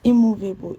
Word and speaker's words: immovable: The comfortable is stressed on comfortable is stressed on FOR, and immovable is stressed on MO.